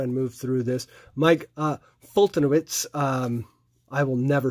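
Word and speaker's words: Foltynewicz: Yeah, it's not how it is pronounced, though. It's, it's Mike Fultonowicz.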